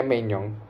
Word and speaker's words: Maignan: Bahkan si Mike Maignan, bacanya Maignan, tapi tulisannya Maignan, Mike Maignan, itu melakukan dua save gemilang, 2 save atau 3 save aku lupa, 2 save rasanya, 2 save gemilang.